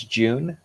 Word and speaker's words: June: great um so hi my name is june uh pronounced like the month i am the founder